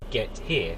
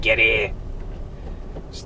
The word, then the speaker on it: Getir: It's spelled Getir. Now I don't know how they want you to pronounce it, but to me it just sounds like get here or get here.